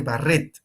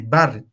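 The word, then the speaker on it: Barrett: importante esto se llama esófago de Barret o de Barret no importa como quieran pronunciar esófago de Barret ya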